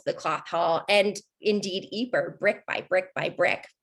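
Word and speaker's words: Ypres: of peace of course the british didn't know how to pronounce it when they first got to the eeper salient so they just pronounced it wipers you might be uh you might know of the broadway performance the wipers times that was performing in london wipers is anytime you hear that they mean eeper we all like to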